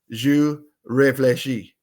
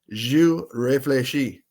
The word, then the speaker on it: Jeux Réfléchis: And their YouTube site or channel is Jeux Réfléchis. Jeux Réfléchis. It's spelled GEUXREFLECHIS.